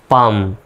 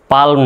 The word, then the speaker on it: palm: পিতে প, আর এই এতে আকার, এল এর উচ্চারণ সাইলেন্ট, এম এর জন্য ম, তাহলে হয়ে গেল কি? পাম, পালম নয়, কালম নয়।